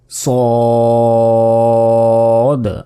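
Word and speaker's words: صاد: এরপর সদ। আমরা অনেকে এটাকে বলি। সয়াদ। সয়াদ বলি অনেকে। এটা কিন্তু ভুল। বলতে হবে। সদ সদ।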